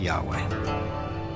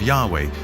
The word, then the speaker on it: Yahweh: So his title, in a sense, was God, and his name was these 4 letters, which in English would be YHWH, which we think were probably pronounced something like Yahweh.